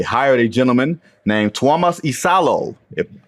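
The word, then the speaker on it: Iisalo: Uh, and they hired a gentleman named Tomas Isalo. If hopefully Isalo, I think I pronounced his name the right way. I should applaud because you nailed it.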